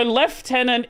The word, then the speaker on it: lieutenant: So left tenant is it's another pronunciation of lieutenant. I don't It's like a British English thing.